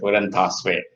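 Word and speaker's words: 輔仁大學: Okay, Fujen Tashui. Is that correct pronunciation? Yes. Fujen Tashui.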